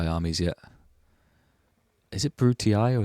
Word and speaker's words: Brutii: Is it Brutii or is it Bruti? I've always thought it's I, or EI, is the pronunciation of the family names, like Julii, Scipii, Brutii. But in the game they say Bruti, they don't say Scipii. Maybe it is EI.